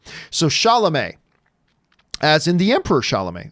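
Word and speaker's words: Chalamet: you should probably say his name properly it's sha male or sha'lame not sha male isn't that how it shot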